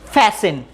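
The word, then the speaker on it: fasten: শক্ত করে বাঁধাকে বলে ফ্যাশন। একটা জিনিস খেয়াল রাখবে, STE, মূলত এই তিনটা লেটার খেয়াল রাখবে, STE এই তিনটি একসাথে থাকলে টি সাইলেন্ট থাকবে।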